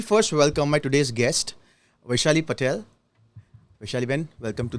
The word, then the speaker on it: Vaishali: When you said Auntie, that's my American name because nobody can say Vaishali.